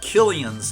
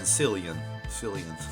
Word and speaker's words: Cillian: And I mispronounce Mr. Killian's name. I was saying Cillian.